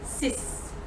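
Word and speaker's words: six: So it's the number 6 and the number 10, so 6 and 10. The X at the end is going to be pronounced as S. 10, 6.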